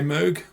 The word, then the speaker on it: Moog: I say Moog.